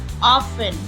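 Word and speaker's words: often: हमारा T silent कुछ शब्द है जिनमें टी साइलेंट रहता हैसल एसन लिसन लिसन ऑफेन ऑफेन सॉफेन सॉफेन इन्हें सॉफ्टेन नहीं पढ़ेंगे आप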